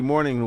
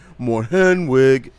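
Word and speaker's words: Mornhinweg: It wasn't Marty Morning. It was my name is Marty Mour Henwig.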